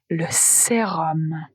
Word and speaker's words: sérum: Attention, sérum s'écrit s e r u m, mais la prononciation, c'est om, le sérum.